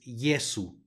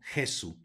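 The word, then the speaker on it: Iesu: respecto del español aquí tenemos una jota que se va a pronunciar como I por lo tanto es yeso no Jesús luego tenemos una doble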